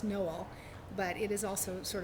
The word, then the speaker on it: Noel: Although the actual town name is pronounced Noel, but it is also sort of a Christmas Ozark town, and so hopefully readers will like a Christmas book.